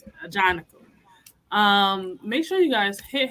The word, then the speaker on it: Ajanaku: Now that I know how to pronounce his name, now I'm gonna always know how to pronounce it. Ajanaku.